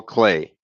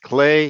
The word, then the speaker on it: Klee: an artist named Paul clay looks like Klee but it's pronounced clay he was a Swiss